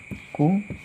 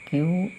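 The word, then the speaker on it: 九: hai Hai guest Hai q-me you speak yang sering nonton Naruto tahu ya artinya ekor 9 q9p artinya adalah ekor hai hai ini adalah kanji angka 9 dengan cara baca ku atau Q dengan contoh kata kunci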